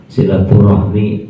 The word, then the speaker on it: silaturahmi: ukhuwah bisa bersilaturahmi bersilaturahim silaturahmi benar silaturahim juga benar itu ini cara membacanya ada dua silaturahim sinetron Rohmi menurut